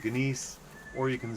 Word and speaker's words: gneiss: You say it like you would gnome. Or you could do the Great Space Coaster and be like Gary Gnu. You could say Gnu, you could say Gneiss, or you can say gnome.